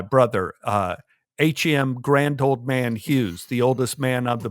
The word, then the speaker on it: Hughes: Hughes. So the Filipino nurse I had could not pronounce Hughes, and he thought it was huge.